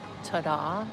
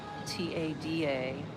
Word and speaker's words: Tada: So there's Grab, Pass App, Tada, T-A-D-A, Tada is how you say it.